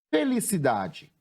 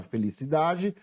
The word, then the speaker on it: felicidade: Separando a palavra felicidade, nós temos fe-li-ci-da-de. Felicidade. Chamando a palavra, como é que eu chamo essa palavra para descobrir a sílaba tônica? Felicidade. Qual foi a sílaba que eu pronunciei com mais intensidade? Aquela que eu mais demorei pronunciando? Foi a sílaba da. Qual é a posição dessa sílaba? É a penúltima sílaba a ser escrita.